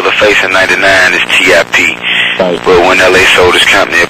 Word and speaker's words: Tip: of my name man my name's tip tiip okay and so you know um and so I uh I just used to I just used to spell it out man to keep to keep from having to keep repeating myself you know a lot of time due to my accent people think I'm saying CH chip you know they don't